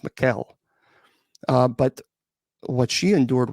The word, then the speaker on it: Michel: It's not Michelle. She was German. It's pronounced Muel.